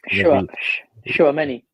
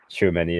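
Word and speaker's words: Tchouaméni: Again, the pronunciation for this player is Schuameni. Schuameni, that's it, yeah.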